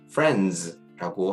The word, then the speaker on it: friends: 근데 대부분 이 발음을 friends 이렇게 발음을 하는데 실제적으로 들어보면 저희가 이렇게 이 발음을 friends라고 하는 것보다는 friends 이렇게 그냥 스 발음에 좀 가깝게 들리거든요. 그래서 저희가 억지로 friends라고 하는 것보다 좀 더